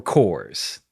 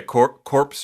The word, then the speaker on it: corps: Or Cores. I never know how to pronounce that word. Oh yeah, corpse or core? Yeah, CORPS. Because English is dumb.